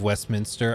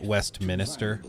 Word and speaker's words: Westminster: Brits in the audience If instead of Westminster I pronounced it West Minister would that trigger you guys and no